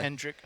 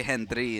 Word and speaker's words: Hendrick: That's how they say it in Spanish, because you can't say Hendrick in Spanish. It's not a Spanish name. Henry? Yeah, so they say Hendry instead, or Henry.